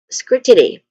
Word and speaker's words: scrutiny: That's um scrutiny.